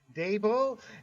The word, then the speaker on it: Dabo: Dabo and the general manager for not I mean,